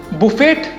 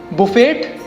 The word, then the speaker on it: buffet: Next we have this, buffet. Buffet?